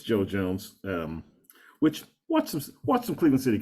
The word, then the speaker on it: Joe Jones: As Doug said, it rhymes with Mo Drones. It's Joe Jones.